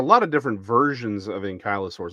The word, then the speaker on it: Ankylosaurus: I wish I'll quit mispronouncing the name. It's Ankylosaurus.